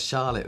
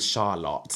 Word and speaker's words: Charlotte: Because it has an E on the end. Look, so then you Charlotte. softly pronounce the vowel before the consonant, right? Yeah, I think so. So it's like car.